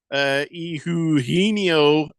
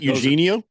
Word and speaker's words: Eugenio: Moislin says Eduardo Rodriguez, Eugenio Suarez. Yeah. It's not Eugenio. It's just Eugenio.